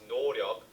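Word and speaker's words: 노오력: The word 노력 is pronounced 노력 by BTS, and this is a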